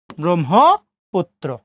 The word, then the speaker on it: ব্রহ্মপুত্র: ওকে, পস্করে পু আছে, দেখেন তোর সাথে রফলা যুক্ত হয়েছে। কি যুক্ত হয়েছে? তোর সাথে রফলা। কোথায়? শেষে। তা তোর উচ্চারণ কয়বার? 2 বার, ব্রহ্মপুত্র। মারার স্টুডেন্ট, আপনারা সম্ভবত বুঝতে পেরেছেন।